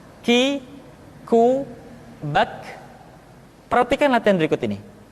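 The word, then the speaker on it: ك: Selanjutnya huruf K diucapkan dengan mengangkat pangkal lidah kita ke posisi di depan huruf Qaf. K diucapkan dengan mengalirkan nafas kita. K. Ki, ku, bak.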